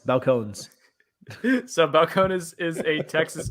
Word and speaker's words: Balcones: Hey, today we are reviewing Balcones Brimstone Corn Whiskey.